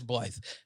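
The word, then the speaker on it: Byleth: sorry I look at it it's it reads life it is Blythe I don't know piloff makes no sense to be phonetically whatever I know phonetics don't work with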